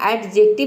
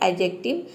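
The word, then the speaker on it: adjective: है अगला एग्जांपल है एडजेक्टिव इसको हम एडजेक्टिव नहीं बोलते हैं इसमें डी को हम प्रोनाउंस करते हैं ये होता है एडजेक्टिव एडजेक्टिव का मतलब होता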